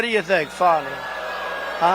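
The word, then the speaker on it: Fani: f do you think fonnie huh F A ni I that's pronounced Fanny but you're not allowed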